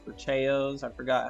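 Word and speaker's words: Chao: I had so many hours in it, raising the Chows or Chayos. I forgot how they're pronounced.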